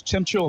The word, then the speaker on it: Temchula: Is that how we're pronouncing 22, that, Chuck? 22 is Temchula, Landon Temchula. Bingo.